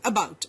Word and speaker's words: about: away very true and you would notice that the stress is on the second syllable in all the words that I just mentioned could we have the